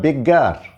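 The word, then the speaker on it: beggar: তাহলে ভিক্ষুকটি দা বেগার বি ডবলজি এ আর এখানে যেন ইয়ার হয়ে যায় না।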